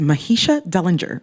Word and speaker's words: Mahisha Dellinger: In the hot seat for Ladies Night with yours truly, Roxy Digital, is Mahisha Dellinger.